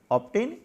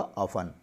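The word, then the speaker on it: often: कई बच्चे इसको ऑब्टेन बोलते हैं। ऑब्टेन इसका सही उच्चारण नहीं है क्योंकि यहाँ पर टी साइलेंस है। इसका सही जो प्रोनाउंसिएशन होगा वो होगा ऑफन। ऑफन यानी अक्सर, प्रायः।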